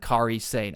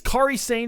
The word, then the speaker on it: Kairi Sane: They take on Damage Control of Dakota Kai, Asuka, and Kairi Sane. I think it's Kairi Sane is how you say it. I've seen some people say Kairi. I think it's Kairi Sane.